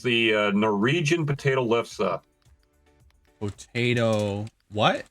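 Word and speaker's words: lefse: um it's called a it's the Norwegian potato lessa Potato. What? How do you spell that last?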